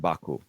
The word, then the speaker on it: Baku: the pronunciation back what how do I say it uh it's rouslan and it's aaran Baku okay well the name I got right right you can just say Baku you could just say